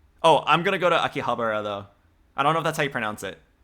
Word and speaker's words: Akihabara: Oh, I'm gonna go to Akihabara though. I don't know if that's how you pronounce it.